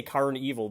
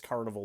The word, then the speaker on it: Karn Evil: or Carnival car car I always say car evil because cuz that's how it's spelled but it's Carnival 9 and uh the album